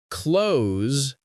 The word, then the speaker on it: clothes: It has that tricky th again followed by a z sound at the end.